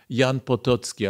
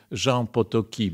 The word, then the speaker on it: Potocki: całych przedstawicieli elit Rzeczpospolitej Jan Potocki a właściwie rząd potoki bo chyba tak się go wymawia po francusku autor rękopisu znalezionego w